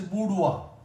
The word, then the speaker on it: boudoir: And this sound is coupe, and this is boudoir. And OIR is underlined here. OIR. So sometimes this OI is pronounced as wa, like reservoir, repertoire, abattoir, and this is boudoir.